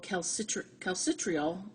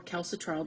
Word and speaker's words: calcitriol: Vitamin D3 subsequently have to be converted to a substance called calcitriol, or calcitriol, depending on how you want to pronounce it, which will be important in calcium balance, and we're going to mention that a little bit later.